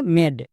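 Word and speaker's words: made: যেমন এম, এম এর জন্য মো, এ এর জন্য একার, ডি এর জন্য ডো, শেষের ই সাইলেন্ট, মানে মেড।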